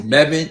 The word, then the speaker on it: Mebane: Is that how you pronounce it? It's Mebane.